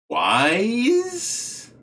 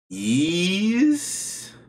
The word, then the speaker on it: Ys: of this game anyways is it wise sounds a little dumb is it ease yes yes i have no idea